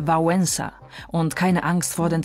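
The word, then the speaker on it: Wałęsa: und Konkurs der Wettbewerb dieses l wird bei uns wie das W im englischen weekend ausgesprochen deshalb nicht etwa valesa sondern vensa und keine Angst vor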